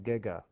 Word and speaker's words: giga: Or if you want to be really cool, my advisor in graduate school said that giga should not be pronounced giga because it's like gigantic, right? Gigantic. You don't say gigantic, right? It should be gigahertz or gigameters, gigahertz, whatever.